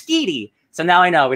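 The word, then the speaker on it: Schiti: I now learned the artist, Valero, it's not Sheedy, it's Skeedy. So now I know. We know how to pronounce it. It's Skeedy, because I listened to a podcast about it.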